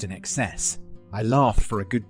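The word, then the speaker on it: INXS: student early 90s that the band inks was not pronounced inks but pronounced in excess I'll laugh for a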